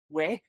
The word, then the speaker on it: oui: it's the combination of the French word for yes which is way I'm GNA say it wrong I am not French by any stretch or some people say we but we and the German letter or